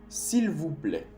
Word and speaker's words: s'il vous plaît: La letra B o V en español se dice B, se pronuncia B, pero en francés el V se dice V, s'il vous plaît, s'il vous plaît.